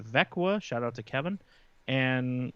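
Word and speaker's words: Växjö: It's spelled Vaxjo, pronounced Vekwa.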